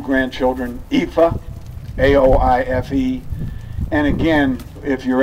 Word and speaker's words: Aoife: She told my sister when asked, how do you spell that? She said, F-U. It's A-O-I-F-E.